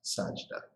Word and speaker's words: Sajda: So don't, so you pronounce the J first, Sajda.